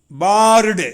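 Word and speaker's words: barred: பாருங்க எப்படி வெர்பா மாறுது பார் பிளஸ் ஆர் இடி பார்ட்டு என்று உச்சரிக்கணும் பார்ட்டு இது வெர்பா மாறுது பாஸ்ட்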